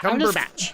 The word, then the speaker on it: Cumberbatch: Cumberbatch.